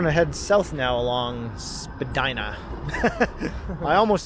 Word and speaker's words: Spadina: So now we're coming up to Spadina Avenue. Spadina.